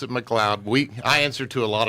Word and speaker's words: McLeod: It's McLeod, right?